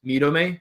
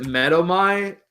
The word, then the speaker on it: Medomai: I used to pronounce it Medomai, and then I got really, I know this is going to sound super strange, but I got really passionate about looking up how it would be pronounced in the Greek language. So I went into Google Translate and I put the names, and I went to Greek and I asked it to pronounce it, and that's how it'd be pronounced in Greek.